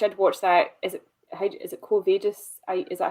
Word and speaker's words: Quo Vadis: Quo Vadis. You don't with Latin. You don't have any inflections in the language. You just say it as it's written.